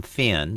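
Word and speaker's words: Phyn: even when you're away now that finn is spelled p-h-y-n and you can find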